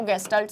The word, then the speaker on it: Gestalt: ठीक है, ऐसे प्रोनाउंस करते हैं ना इसको, गेस्टाल्ट साइकोलॉजी।